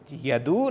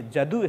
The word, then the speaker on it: यदु: प्रथम तो यदु नाम, यह जदु है, ये प्राचीन परंपरा है। यह को ज उच्चारण करने की परंपरा, तो जदु, यदु को ही जदु कहा गया है।